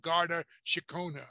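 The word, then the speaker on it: Garda Síochána: and border protection ireland's national police force on garda shacona i've learned how to pronounce that the united kingdom's national crime agency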